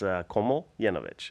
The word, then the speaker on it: Komljenovic: Komljenovic. It's actually pretty simple if you just simplify it in your head, right? It's Komljenovic, and you make that one long word.